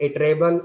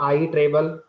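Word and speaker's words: iterable: So when आई use this word you can pronounce it इटरेबल और आई इटरेबल। दोनों ही सही है।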